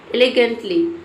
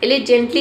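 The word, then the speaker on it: elegantly: एलिगेंटली, एलिजेंटली इसे पढ़ेंगे, गेंटली नहीं, एलिजेंटली। आपको यहाँ पे जी को जो पढ़ना है।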